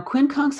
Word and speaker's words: quincunx: Now, quincunx has the nature of Neptune. Quincunx. How do you spell that? Q-U-I-N Mm-hmm. C-U-N-X, quincunx.